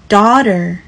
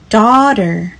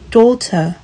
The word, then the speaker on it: daughter: 美式发音 daughter daughter daughter，英式发音会比较接近 daughter daughter。